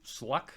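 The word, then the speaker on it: Shough: Okay, this guy here, I think it's pronounced it's actually sluck, even though it's spelled s l o u g h.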